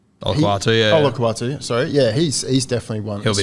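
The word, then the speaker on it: Olakau'atu: Like, Olakatoa. Olakawatu, sorry.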